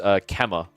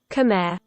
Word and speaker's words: Khmer: Khmer. Khmer. I always say Kema. Khmer.